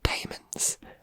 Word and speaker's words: daemons: of murderers, liars, and daemons at the heart of a murder cult. I said daemons because it's spelled D-A-E-M-O-N-S.